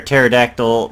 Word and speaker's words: pterodactyl: zombie pigman mister chops I think those P is silent you can never hear a pterodactyl and using the bathroom because the P is silent let's head on down